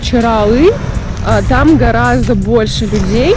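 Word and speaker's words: Çıralı: Чирали, или, как правильно говорить, Чиралы, там гораздо больше людей.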